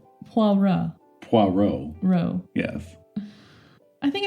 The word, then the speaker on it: Poirot: Like a Poirot thing.